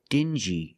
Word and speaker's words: dingy: Example, dingy and stingy. These two words have the regular n sound plus the j like juice together. Sting gi together stingy or ding g together.